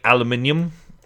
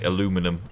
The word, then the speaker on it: aluminium: We say aluminium in England, and you say aluminum in America.